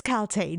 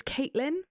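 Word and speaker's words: Kaltain: To me, and my probably dyslexic brain, Galtane read to me for 8 books, over like 3,000 pages worth of paper, that it was Caitlin, not Galtane.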